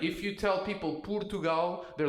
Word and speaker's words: Portugal: Portugal. Right? Not paw. It has to be up. Poo. Right? This already is an incredible hack. You know, like if you tell people Portugal, they're like, "Oh, the finances people."